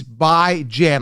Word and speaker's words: Bijan: It's Bijan, like J-A-N, like Jan as in ran, right? I ran to the market. I don't say, I bond to the market, right? Like, Jean Bond, right? Again, ran, tan, Jan. B-I as in bi-weekly, right? Jan. Okay, so I want to hammer this on.